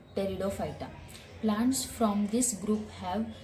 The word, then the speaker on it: Pteridophyta: This is not a Petridophyta. Okay, P is silent, so pronounce it like Pteridophyta.